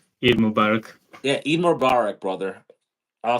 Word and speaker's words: Eid Mubarak: ending of um e Mubarak they say s Eid Mubarak yeah Eid Mubarak brother I'll see you on